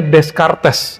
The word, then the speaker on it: Descartes: Ada orang bacanya Descartes, itu kurang pas ya. Descartes itu spelling Indonesia. Ya, yang benar Descartes. Agak sulit juga sih pakai R-nya itu, R-nya ghain. Descartes.